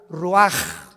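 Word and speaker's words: רוּחַ: y exhaló Isaac el Roach así como suena se pronuncia la c en hebreo como J ruaj se les só y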